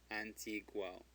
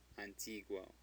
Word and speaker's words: antiguo: It's G-U-O, so the U is pronounced. Guo. Antiguo. Antiguo.